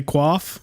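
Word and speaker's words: coif: are ultimately upset with the way I say qua even though that's the right way to say it I've been Cyber Bullied into silence and saying koif the wrong way uh foul and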